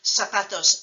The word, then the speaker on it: zapatos: sound so in Spanish a written Z is pronounced like an S if you live in Latin America including the United States so for example you would say Zapatos azules for blue shoes